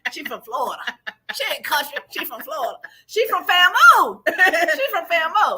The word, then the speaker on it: FAMU: There's a lot of people that pronounce it FAMU because that's what it looks like. FAMU. That's what it looks like. She tried to correct me before we went on this. It's just FAM, then the U.